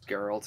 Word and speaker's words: Geralt: Weren't you the one that pointed out that in the Witcher novels, Geralt is actually... Oh, no, you said it right the first time. Yeah. I did? Yeah, yeah. Geralt.